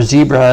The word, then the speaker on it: zebra: similarly a herd of zebra or zebra as Americans say gather because the more